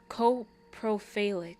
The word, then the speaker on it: coprophilic: It's pronounced coprophilic. Okay, coprophilic. It's still spelled gosh darn stupid.